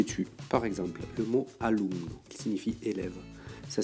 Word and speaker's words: alumno: N, par exemple sur le mot alumno, ce qui va se passer, c'est que c'est l'avant-dernière syllabe qui est tonique.